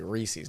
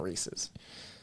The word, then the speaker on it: Reese's: That's how I say Reese's, not Reese's.